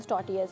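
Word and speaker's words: tortillas: It's just a flat simple मैदे की रोटी जिसको मैक्सिकन टॉर्टियाज कहते हैं। और टॉर्टियाज इज़ a very funny word because इसमें जो टी होता है वो साइलेंट होता है।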